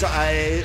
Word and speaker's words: HIA: HIA slyly. Slyly. Sneaking around the side. Though I suppose it's pronounced Hia, which isn't quite the same.